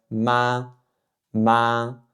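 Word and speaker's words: 妈: Pour la prononciation, c'est ma ma Donc encore une fois, le premier ton, souvenez-vous, c'est à la limite haute de votre champ vocal et c'est monotone, il y a pas de variation. ma ma Et donc en chinois,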